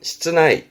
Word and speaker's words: 室内: 실내, 발음은 시츠나이, 시츠나이.